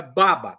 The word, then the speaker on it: babá: Mas é baba, o acento tônico é na primeira sílaba, baba.